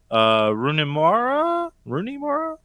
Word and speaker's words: Rooney Mara: It's Joaquin Phoenix, Jonah Hill, Rooney Mara? Is that how you pronounce her name?